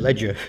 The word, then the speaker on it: Liga: I usually pronounce it Ledger. Ledger, do you?